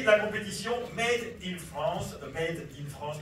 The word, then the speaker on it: made in France: compétition made in France made in France que je prononce volontairement euh fabriqué en France fabriqué en France voilà c'est ça je prononce volontièrement à la française par que comme son